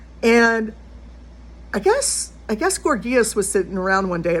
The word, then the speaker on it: Gorgias: And I guess I guess Gorgias was sitting around one day. And by the way, yes, you can pronounce it Gorgias if you want.